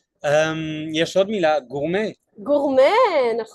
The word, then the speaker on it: gourmet: Now in French they write the word gourmet with the letter T at the end, but they don’t pronounce it. They don’t say it, yes, they don’t say gormet, they say gourmet.